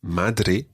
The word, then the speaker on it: madre: it's not quite as soft as that if you if you say rather than d then you're nearer the sound so mathere madre the word for father